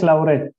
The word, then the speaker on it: Lauret: In Argentina, it's Lauret. Lauret. Okay, perfect. As Argentina is almost a part of Italy, so it's Lauret. is clear. Okay, so Lauret, that in spite of